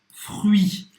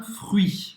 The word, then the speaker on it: fruit: Presta atenção, você vai falar o R, você vai pronunciar também o U, faz a boca do U e fala aí. e você vai pronunciar o I. O T, esquece que ele tá aí.